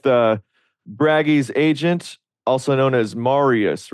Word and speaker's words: Marius: Okay, so I'm here with Bragi'z Agent, also known as Marius, right? Is that your name? Yeah, that's Pronounced it my right? name. Okay, good. Yes. Yeah, so Marius has a channel.